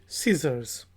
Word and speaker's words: scissors: फिर वर्ड हमारे पास है SCISSORS, सीजर्स। सीजर्स कैंची को कहा जाता है, सी साइलेंट है, सीजर्स।